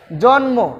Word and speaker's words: জন্ম: জন্ম, জন্ম, এখানে ম এর উচ্চারণটা আছে। গুল্ম, গুল্ম, গুল্ম, এখানেও ম এর উচ্চারণটা আছে।